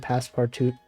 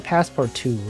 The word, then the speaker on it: Passepartout: I guess the last T at the end is probably silent. It's probably Passepartout, right?